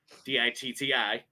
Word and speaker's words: Ditti: But it's pronounced the exact same way. And everybody, ever since he decided to go by that name, has asked, oh, like P. Diddy. And it was never that. Never like P. Diddy. It's spelled differently, Ditti.